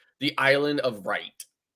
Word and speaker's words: Wright: But it is spelled WRIGHT. Right. So The Wright brothers. right. Yeah, But what I'm trying to say is that people don't know how to pronounce that either because the W throws them off.